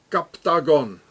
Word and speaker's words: Captagon: So here it says Captagon, it's like octagon, Captagon, it's the same.